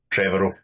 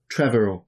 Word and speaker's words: Trevorrow: Trevorrow. Trevorrow.